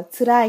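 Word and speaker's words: 辛い: Chữ Hán thì giống hệt với karai đúng không ạ? Nhưng đọc là tsurai nhé.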